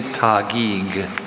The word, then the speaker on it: Taguig: Are there any alternate pronunciations? Only Tagiig.